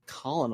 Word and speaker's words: colonel: and be like what in the world's like Colin all I'm like oh wait that's correct yep well then our other word for Colonel she's like a popcorn kernel is spelled k